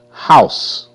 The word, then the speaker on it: house: House. H how? House. E is silent. E makes no sound.